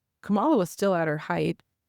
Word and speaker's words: Kamala: And I was like, Kamala was still at her height. Like, did I say Kamala?